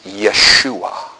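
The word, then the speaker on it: ישוע: Jesus is Yeshua.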